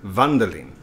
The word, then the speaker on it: Wunderling: primate and welcome to wonder lean or aka bundling as it's pronounced from the trailer wonder they so we